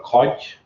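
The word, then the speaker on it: kodj: So this one's called a codge.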